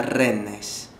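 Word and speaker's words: Rennes: ciudad que se llama renes se escribe renes y se pronuncia Ren y y ya fui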